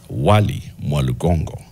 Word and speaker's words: Wali Mwalugongo: The name is written as Wali Mwalugongo. How is it pronounced?